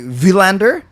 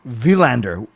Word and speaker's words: Willander: we have to say technically villander with the V because you saw that clip right where they asked well they did ask him what's the proper pronunciation and he didn't miss that yeah so he didn't want to like make anyone feel bad but he did say in Sweden it would be villander so uh with the